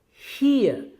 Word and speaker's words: here: our rule is that, our British English rule is that normally the English alphabet R or the English sound raw remains silent after a vowel sound.